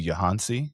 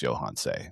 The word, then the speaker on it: Yohance: I said, "My name is Johans." And she looked at me and she said, "I named you Johansi. Your name is Johansi." And I was like, "Okay, well, it's phonetically pronounced Johans."